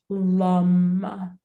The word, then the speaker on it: lam: the root chakra is it's spelled like lamb but again that a is more like sounds more like a u so it's lum and then the